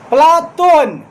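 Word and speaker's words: Πλάτων: इसी कारण उसके व्यायाम शिक्षक ने उसे प्लातोन प्लातोन कहना शुरू किया। क्योंकि प्लेटो शब्द का अर्थ ही होता है चौरा चपटा। प्लेटो शब्द का शुद्ध यूनानी उच्चारण प्लाोन है।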